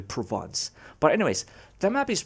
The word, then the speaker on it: Provence: know looks pretty cool i used to call them province but since i i i don't know i knew how to how to pronounce it properly provence but anyways the map